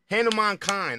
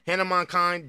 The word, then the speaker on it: Hanumankind: Hanumankind. I believe I'm saying that right, bro. I've been saying his name wrong.